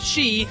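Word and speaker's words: 四: out Japanese Gamers as the number four is pronounced she which is also the word for death in the previous male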